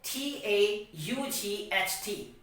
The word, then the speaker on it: taught: it is said that if the words end for the letter g h t then g h is becoming silent so f i g